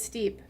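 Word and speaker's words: steppe: of time in the step right he's a termitary guard and that's like step adjacent is it steep danovsky pronounced it as steep but I just keep pronouncing it as step tinure yes Chris gets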